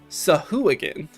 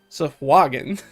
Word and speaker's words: Sahuagin: It's on record is pronouncing this Sahuagin. That is not how that is said. That I have never heard anybody say that. Sahuagin is supposed to be accordingly the appropriate pronunciation for that word per D&D from like the